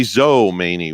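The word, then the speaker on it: Mazomanie: Mazo Maney, Wisconsin. Oh yeah, Mazo Maney. Mazo Maney. Okay. Did I say Mazel like yeah, you nasal? said Mazel, like Yep. nasal. It's Mazo Maney.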